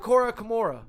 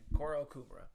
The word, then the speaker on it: Kourokumura: So have I been pronouncing your fucking name wrong this entire time? Kourokumura. Yeah. Not Kourokumura.